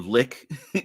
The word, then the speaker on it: lich: yeah yeah yeah absolutely or lick some people say it's supposed to pronounced lick Dungeons and Dragons are